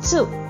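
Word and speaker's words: つ: Here in this series, the pronunciation is tsu. It is not tsu. It is TSU.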